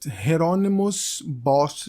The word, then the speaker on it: Hieronymus Bosch: I don't speak Dutch I looked around and I saw that geronimo's boss is like the proper pronunciation of the name so if I'm wrong I apologize but I think that is how it's supposed to be said geronimos with this type